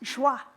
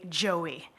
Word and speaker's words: Joie: French immersion kindergarten that I learned it's actually pronounced Jah I also learned however that most people in Canada will look at j o i e on a piece of paper and say Joey oh dear God no never I was